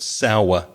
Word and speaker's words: sour: So imagine a W letter in the middle of that word. Sour. Sour. And how do you say it in Belfast accent? Sour. Sour. It can be just one syllable, sour.